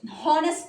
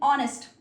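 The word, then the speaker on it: honest: अगर मैं कहूं आपको ईमानदार होना चाहिए, you should be ऑनेस्ट, हॉनेस्ट नहीं ऑनेस्ट, ओ से प्रोनाउंसिएशन होगी।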